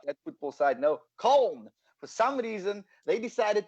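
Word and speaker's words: Köln: um not cologne not at football side no cone for some reason they decided to put two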